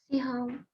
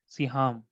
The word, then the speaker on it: Siham: उससे पहले ये बताइए, like, how do you pronounce? Like, you pronounce it as Seham, or you pronounce it as Saham? Siham. Siham. Okay, it is pronounced as Siham.